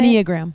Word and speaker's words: Enneagram: And how do you say Enneagram.